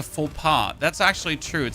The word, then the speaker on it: faux pas: A fox pass sounds like a faux pas.